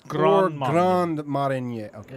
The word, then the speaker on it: Grand Marnier: It's Grand Marnier.